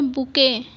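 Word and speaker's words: bouquet: और नेक्स्ट है बुके। इसका मतलब स्पेलिंग को देखकर कंफ्यूज मत होइएगा कि मतलब BOUKUET लिखा है तो बुकेट पढ़े, नहीं, ये बुके पढ़ा जाता है।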